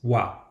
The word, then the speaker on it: は: It's very important to note that the character ha is also pronounced as wa when used as a topic marker.